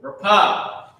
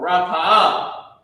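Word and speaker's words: רפא: The next word, rapah or rapa'ah means heal. Okay? Rapa'ah, okay, is heal. Or rapah, you might hear it say rapah is the same thing. It's heal. It's how you pronounce rapa'ah.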